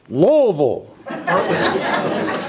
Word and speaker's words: Louisville: i'll get this right louisville many people think there are three or four syllables in louisville there are not there are two wol and vol and they all come